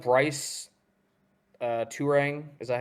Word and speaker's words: Turang: Um, I'm looking at like Bryce Turang. Is that how you pronounce his name? Bryce Bryce Terang, Turang. yes. Yes, he's a solid one. Turang.